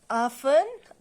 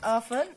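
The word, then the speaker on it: often: ऑफन, बच्चों ये जो है ऑफन, इसको टी साइलेंट करना पड़ता है। इसको हम पढ़ेंगे ऑफन आई सिट in letters right.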